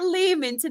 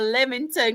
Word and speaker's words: Leamington: Is it Leamington or Leamington? Because Claire laughs at me.